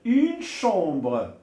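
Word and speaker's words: chambre: بالنسبه للسي مع اش. الوغ السي مع اش كيتنطق بالش. الوغ الا كانت لا كونسون اش جايه من بعد السي كيتنطق الش. اون شومبر.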